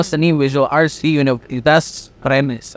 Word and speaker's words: Rennes: Tapi ini visual arts ya, pendidikan lo seni visual arts di Universitas Rennes, right? Ren bacanya, Ren.